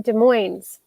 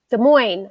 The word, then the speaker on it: Des Moines: bobby ellison is in des moines des moines i always put the s on there and i don't think it belongs uh david that would